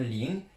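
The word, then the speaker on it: 零: pluie fine et la prononciation de avoir froid lung, ça donne ling.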